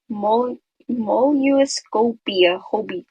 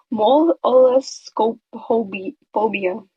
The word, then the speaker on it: molluscophobia: It's called Molluscopia I can't pronounce that. Molluscophobia.